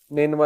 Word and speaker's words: نینوا: نینوا اس کا تلفظ ہے NINEVEH.